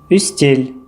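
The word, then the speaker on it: үстел: Буква Ü произносится более мягко, чем буква У. Устель – стол.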